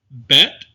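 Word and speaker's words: בית: Bet, with the dagesh, that dot in the middle of the letter, is pronounced b as in boy. Without the dagesh, it's pronounced v as in voice.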